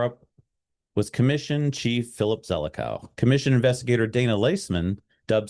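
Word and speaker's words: Zelikow: and 911 attacks, but Zelico, that's the proper way to pronounce that, was determined that would not succeed.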